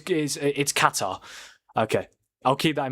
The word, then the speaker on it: Qatar: You're also saying Qatar wrong, but we'll do with that. So it's Qatar.